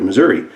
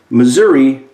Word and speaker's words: Missouri: had grown up there so Missouri may be pronounced Missouri with an extension of an e on the end and some folks may say Missouri but if you pay close attention to their speeches they actually say Missouri and Missouri both within